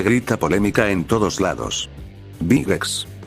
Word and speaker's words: Big X: Big X. O Bigekisu en su pronunciación local, fue un manga en